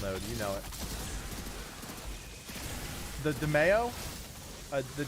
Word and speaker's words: daimyo: no uh blighted rounds now daimyo is how you pronounce it really interesting is that